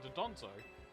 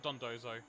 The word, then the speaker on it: Dondozo: Thanks for saving this doozy of a Donzo. Alright, Dondozo. Time to get to work. I've been saying it wrong this entire time. The N is after the first Do. Not the second.